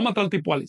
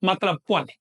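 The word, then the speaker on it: matlacpohualli: No Matlaltipuali, sino Matlac Puali.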